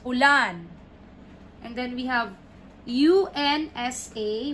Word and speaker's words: unsa: and then we have u n s a we have the stresses in the middle if the stress would be here it will be wrong it's unsa no it's wrong punsa unsa okay next number six we